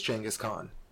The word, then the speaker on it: Genghis Khan: It is Genghis Khan. That's the way it's pronounced properly in their languages.